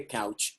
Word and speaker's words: couch: And I opened my gifts in the corner behind the couch. Just remember that O-U normally is pronounced ow, right? Ow, couch.